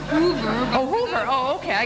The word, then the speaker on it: Uwe: Uwe. What? Uwe, like Hoover.